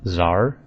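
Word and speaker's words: TzHaar: been debated a bit I think the tar volcanic creatures are pronounced Zar so completely ignoring the T and the H so just Zar I like tar better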